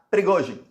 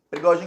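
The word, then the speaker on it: Пригожин: O dono desse grupo se chama Prigozhin. Prigozhin é a pronúncia do sobrenome dele em russo. Não sei como é que a mídia está chamando ele no Brasil, mas em russo é Prigozhin.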